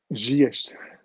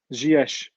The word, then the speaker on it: Ziyech: Sorry, how you pronounce his name? Ziyech. I thought it looked like Zurich, to be fair, but there you go. Ziyech.